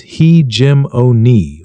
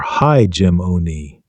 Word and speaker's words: hegemony: It is pronounced hegemony or hegemony.